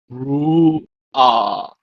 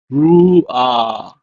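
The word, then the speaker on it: רוּחַ: And finally, the word for spirit and wind is Ru'ah. Ru'ah. Notice that even though this is a hat, it's not pronounced as ha, but as ah, ah, instead of ha. So it's Ru'ah.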